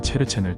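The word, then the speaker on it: Cherchen: 이들은 치에모의 위구르어 발음인 체르첸을 따 체르첸인으로 불립니다.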